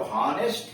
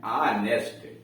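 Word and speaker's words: honest: एन इसलिए लगा कि ये लिखते तो हॉनेस्ट है लेकिन पढ़ते हैं ऑनेस्ट, तो जब भी उच्चारण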